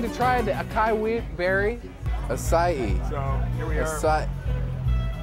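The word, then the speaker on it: açaí: It's not a kai berry, it's a sai berry.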